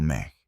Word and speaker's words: me: Hablaron de un sistema divino de mantenimiento de registros llamado ME, pronunciado MEG.